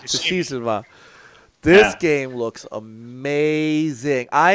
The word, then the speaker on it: Tsushima: Somebody pronounce that last word for me, because I'm just dumb. Ghosts. No. This. Tsushima. I think it's Tsushima. Tsushima.